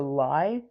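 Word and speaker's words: Lai: One of them is mentioned by name, which is the lie. L A I spelled like that.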